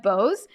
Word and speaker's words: Bose: your last name and you were like like the way they pronounce the headphones, but not connected, I assume.